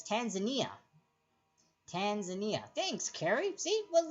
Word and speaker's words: Tanzania: Tanzania, pronounced. Oh, I call it Tanzania, but it's Tanzania.